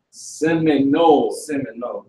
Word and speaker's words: Seminole: You know how to spell it? The Simeon? Not Simeon. Simone. Seminole.